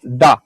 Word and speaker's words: da: for example our yes it's pronounced da exactly like the russians do in their language because the slavs living